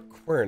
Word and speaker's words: Quern: name here uh ausam have you played curtain before or qun I think is actually how it's pronounced Pi up a note